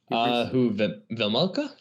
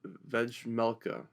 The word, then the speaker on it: Vejmelka: Karel Vejmelka. Vejmelka, yeah. Man, the J is silent.